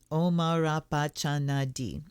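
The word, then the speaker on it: Om Arapachana Dhih: are so the mantra omara pacha nadi and this mantra which is pronounced omarapachanadi is one of the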